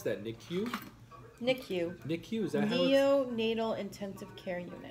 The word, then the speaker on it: NICU: me uh what is it how do you pronounce that nicu nicu nick use that neonatal intensive care unit what does that